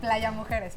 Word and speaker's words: Playa Mujeres: Exactly, Playa Mujeres, perfect.